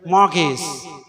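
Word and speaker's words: mortgage: gets more gaze so let me pronounce this word m-o-r-t-g-a-g-e many people pronounce this with what gay smart case senior people also so be alert while pronouncing this word morgaes remember w-h-e-r-e where not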